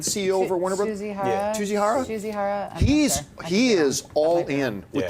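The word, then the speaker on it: Tsujihara: But it looks like Kevin Shihara, is that how you pronounce this? Like the CEO over Warner Brothers? Tsuchihara.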